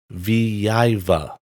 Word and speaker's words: Vyveva: of malware known as viva i probably have that mispronounced but it's spelled v y v e v a in an attack against